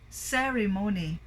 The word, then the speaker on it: ceremony: It's already the flag ceremony. Ceremony. But it should be ceremony. Okay? First syllable stress.